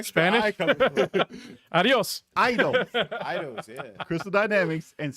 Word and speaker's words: Eidos: Eidos. Extra I in there. Yeah, it's years. Elios. This ain't Elios Pizza. Years of me saying it wrong.